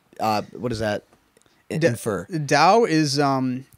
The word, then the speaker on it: Tao: blood like Taoism yep it's pronouncing the D okay oh really yep